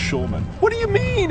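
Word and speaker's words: Shulman: air time a dick there's an L in my last name it's pronounced Schulman what do you mean it's schan baby it's Schuman dick it's been great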